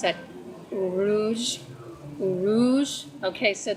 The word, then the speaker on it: Uruz: In this case, it's Uruz, or some people will pronounce that Uruz. Uruz. Okay, so that Z is kind of like a J and a Z sound together.